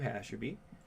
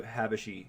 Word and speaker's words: Habashi: I'm going to go as directed to Hasherby. Sigmage, right? My name's Habashi. Excuse me. I say his name wrong every time.